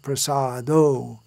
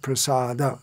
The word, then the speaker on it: prasada: those who attend Mangalarti, sing chaturvidha Sri Bhagavat prasado, but it should be actually chaturvidha Sri Bhagavat Prasada. Look in the songbook and see how it should be pronounced.